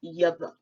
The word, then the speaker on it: Yahweh: We all know that Yud He Vav He is the Masoretic spelling of the name of the Most High, and it is directly pronounced Yahweh.